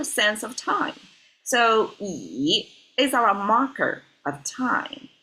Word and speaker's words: 已: This one is pronounced as yi, but it means completely different.